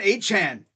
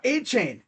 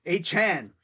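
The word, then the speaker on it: Achane: these games he wants he actually requested that we changed and how he pronounces his name it's Devon a Chan not a chain a Chan that's how he wants it to be called so okay Devon we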